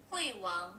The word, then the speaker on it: Huion: If you guys need a quick sound bite, the actual name is Huawei one But because we are English speaking, we'll do the best we can with the pronunciation without being too overly colorful with it and just say Huawei one.